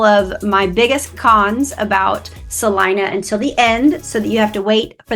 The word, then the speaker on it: Celina: Yes, it looks like it's Celina, but we pronounce it Celina.